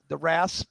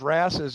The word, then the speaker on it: wrasse: Loaches, I think, wouldn't the wrasse be considered type of loach for the saltwater? Am I even saying it right? Yeah, I think you're saying wrasse right.